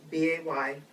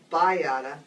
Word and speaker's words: BAYADA: So it's B A Y And it's pronounced Bayada, not Bayada. Just think of Kaneohe Bay.